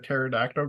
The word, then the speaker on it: pterodactyl: can never hear a pterodactyl go to the bathroom why because the p is silent oh God nice had